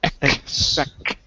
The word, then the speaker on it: expect: You gotta get that k sound when you see the x. Expect.